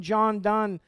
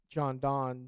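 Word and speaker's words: John Donne: John Dunn a lot I was corrected once on my first sermon that I preached here by Janet when I pronounced John Dawn so since that point I've made sure to pronounce that corrected correctly but this new isolationist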